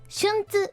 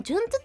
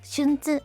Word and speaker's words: 順子: 並んでる子供と書いて順子と読みますが純ツっていう止めるんですけど基本的には順子ですかね春